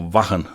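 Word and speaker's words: Wacken: and the Live at Wagon or Vakan, I suppose, if we're going to pronounce it properly.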